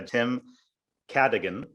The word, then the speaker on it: Tim Cadogan: i'm very happy today to be joined by tim cadigan the ceo of gofundme did i get the pronunciation right enough there you did you absolutely